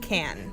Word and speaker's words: Cannes: matte in the shade it's spelled like cannes but I looked it up as pronounced can anyways guys this is